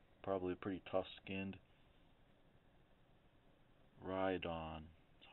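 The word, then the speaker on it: Rhydon: big guy horny probably a pretty tough skinned ride on that's how you pronounce it kind of a tough one longtail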